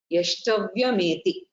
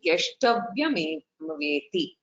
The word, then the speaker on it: यष्टव्यमेवेति: स सात्विकः यष्टव्यम एति यष्टव्यमेति. Okay, there is a small correction there in my pronunciation. Yashtavyameveti, very important.